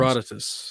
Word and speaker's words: Herodotus: Herodotus, I think is how you're supposed to say.